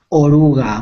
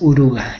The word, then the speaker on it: oruga: de este animalito oruga Oruga Muy bien pero con o vale No es uruga es oruga no Yo es que